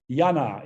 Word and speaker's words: Jana: well pronounced but i start with yana is that okay yes jana is perfect thank you you pronounce this perfectly uh so i am